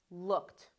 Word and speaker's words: looked: So this one is pronounced looked. Again, no extra syllable for the T sound.